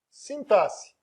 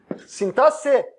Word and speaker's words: sintaxe: Aí nós temos a fonologia, a morfologia e a sintaxe. Sintaxe, não é sintaxe. Sintaxe, mesmo com esse X aí.